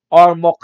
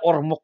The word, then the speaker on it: Ormoc: Pa-shoutout boss from Ormoc City, Leyte. Noel Bandibas. Yan palang, hindi pala Ormoc yan, no? Ormoc. Dapat pala, ganun ang bigkas niya.